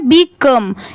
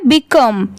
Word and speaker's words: become: अब बहुत सारे लोग बी और COME, बहुत सारे लोग इसको भी became पढ़ लेते हैं या फिर इसको become पढ़ लेते हैं, पर इसकी प्रोनाउंसिएशन है become। यहाँ पर COME है और यहाँ पर CAME है। यहाँ पर देखिए A की वजह से और यहाँ पर O की वजह से दोनों की प्रोनाउंसिएशन डिफरेंट है, इसलिए इसको हमेशा आप याद रखिए। ये है became और ये है become।